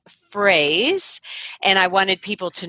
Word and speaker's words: Froese: a little side note your last name is spelled F ro e SE but it's pronounced phrase and I wanted people